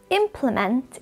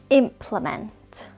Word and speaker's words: implement: pronunciation of this word implement implement you can see it has three syllables implement getting the correct